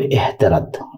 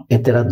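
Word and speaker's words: اعتراض: এতেরাদ আপত্তি অথবা এহতেরাদ, এটাকে একটু শুদ্ধ করে বললে হবে এহতেরাদ, এতেরাদ না এহতারাদ আপত্তি।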